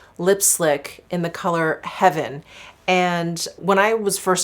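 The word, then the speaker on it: Hevyn: included and i remember i couldn't quite figure out the name of this because it's spelled h-e-v-y-n and one of you one of my viewers actually said it's heaven and it's sort of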